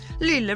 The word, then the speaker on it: Lila: Lila rhymes with Mamma Mia.